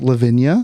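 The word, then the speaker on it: Lavinia: Um, how do you pronounce is is your first name pronounced Levvenia?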